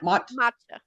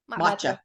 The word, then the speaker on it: matcha: the M machka how do you say that matcha matcha okay or just green tea matcha white chocolate